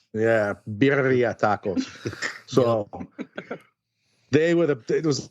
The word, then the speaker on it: birria: And they're called birria tacos. And I don't know if I'm pronouncing that right, Sergio, but you got to roll your R a little bit more. Yeah, birria tacos.